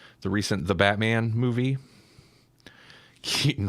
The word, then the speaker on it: Keaton: recent the Batman movie Keaton rhymes with Wheaton it does it's like